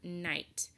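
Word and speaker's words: knight: Instead, we just hear the N sound, like in the word night. Night begins with KN, and in words that begin with KN, the K is silent. We just hear the N sound, night.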